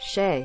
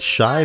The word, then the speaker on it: Shay: It's pronounced Shay. Rhymes with gay. It's pronounced Shay the whole time. The whole time. But Shy makes my pee-pee bounce.